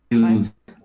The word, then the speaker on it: lose: Lose, not loss or loss, lose, like a long oo. Lose. That's it, lose.